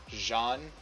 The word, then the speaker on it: Jean: names are named after it's Jean so the French pronunciation not Gene which would be the American pronunciation so we're gonna move